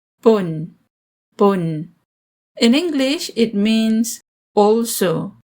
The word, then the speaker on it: pun: of O small o not o but o pun pun in English it means also to and as